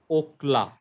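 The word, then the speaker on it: אָכְלָה: So under Ka was a Shiva. So this is Okla. Okla. So in this situation, because the syllable is closing, the Shiva must be silent.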